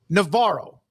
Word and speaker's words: Navarro: Let me tell you why I do that, because there's Navarro Junior College, used to be Navarro Junior College in Corsicana. I did a lot of their games. That's how they say it. It is Parker Navarro.